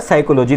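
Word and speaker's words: psychology: वर्ण कौन सा है साइकोलॉजी की स्पेलिंग होती है सा ठीक है और जबकि साइकोलॉजी का जो उच्चारण होता है साइकोलॉजी तो यहां पर जो खामोश वर्ण होता है वो आगे का पी होता है ठीक है तो यहां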